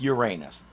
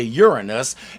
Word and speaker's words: Uranus: didn't go with Uranus yes we pronounce it like that until 1986 when Voyager 2 flew past the planet and news anchors had to say it out loud they not so subtly tried to change it to Uranus as if